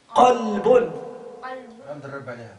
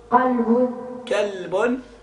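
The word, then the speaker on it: قلب: Dis Qalbun.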